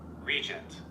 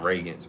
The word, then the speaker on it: regent: Regent. Regent. So, regents. I was saying Reagan. Regents.